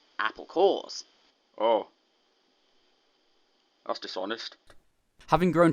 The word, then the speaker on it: Apple Corps: groups are called and it sounds like core because apples have cores a Pawn Yeah a play on words yeah so so it's it's spelled Apple corpse but then you say apple cores oh that's dishonest having